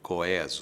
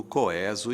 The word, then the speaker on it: coeso: isso aparecia nos dicionários aparecia a palavra e entre parênteses um e com acento agudo Porque de fato Essa é a pronúncia clássica erudita não sei o quê mas o povo nunca entrou no na onda do coeso e felizmente os dicionários se renderam e hoje indicam as duas pronúncias como perfeitamente possíveis coeso ou coeso coeso